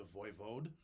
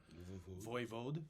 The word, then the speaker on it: voivode: a really cool title it's the voivode voivode it's you know it's got kind of a heavy D sound uh voi v-o-d-e and